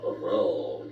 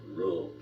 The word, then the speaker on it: Ruhl: So when it came to this country and that rule made you pronounce it as a roll, come down, roll, like that. That was German way of talking.